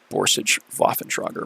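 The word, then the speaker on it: Borsig Waffenträger: rate and um yeah rhm borsage voffentroger man that's I believe how you pronounce it in the German language and yet this thing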